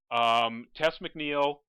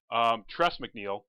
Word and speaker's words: Tress MacNeille: with a picture of test McNeal test tress MacNeille I got her name wrong I think tress MacNeille I did Jess Harnell